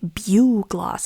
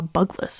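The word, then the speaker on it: bugloss: I found a video that said it's pronounced Bug Gloss. And I don't know why I didn't read it as BU gloss, but I just saw bugless.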